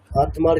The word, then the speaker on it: আত্মা: যেমন আত্মার ক্ষেত্রে কি বলছি, আত্মা, সেরকম পদ্মের ক্ষেত্রে পদ্ম, মানে দটাকে ডাবল করছি, আত্মার ক্ষেত্রে দটাকে ডাবল করছি।